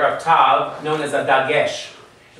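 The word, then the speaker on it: תו: Among Ashkenazi pronunciation, especially those who speak Yiddish, they say, no, we even have a different sound. We make it an S sound. So tav becomes sav.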